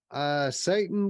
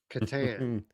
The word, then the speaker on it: Catan: The other bundle, Satan VR, or Hmm. I guess most people call it Catan. You say it with a hard C. I say it with a soft C.